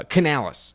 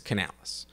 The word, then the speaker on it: Canales: Mike Evans last here uh Canalis it's Canales um I think they